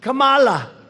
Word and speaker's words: Kamala: tried to interrupt him no my name was kamala like comma i remember that like